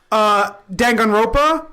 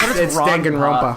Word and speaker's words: Danganronpa: Danganronpa, and I've Sounds like you're pronouncing that wrong. no, it's Danganronpa. Danganronpa. It's Danganronpa. But people that I listen to say Danganronpa. Ropa, like the Spanish word for...